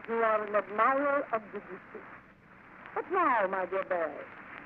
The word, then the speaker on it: Debussy: Well, the man's name is Claude Debussy. It should be said quickly. Debussy. Well, no matter how I